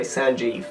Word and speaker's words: Sangiev: That's how you pronounce it, by the way, Sangiev. My mum spelt it in a weird French manner, because obviously I was born and raised in France.